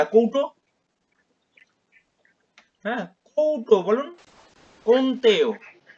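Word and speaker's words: কৌন্তেয়: মাত্রায় কন্তে কন্তে কুন্তিয় কুন্তিয় না কন্তেও কন্তেও কন কোন আমার নাম হচ্ছে কৌ কুন ক্যাতেওয়তে আপনাদের কৌট বাড়িতে কৌট থাকে না কৌট হ্যা কৌটো বলুন কন্তেও কে পরের জন আসুন সুখ দুঃখ কোন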